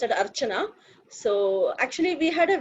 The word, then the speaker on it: Archana: Ahana. Don't know how to pronounce that, but you're welcome. Come in and share your views from your group. Okay, it's pronounced as Archana.